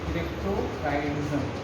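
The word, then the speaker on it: cryptorchidism: Unable to descend into scrotum, इसी को बोलते हैं क्रिप्टोकाइडिज्म। आर साइलेंट रहता है, क्रिप्टोकाइडिज्म।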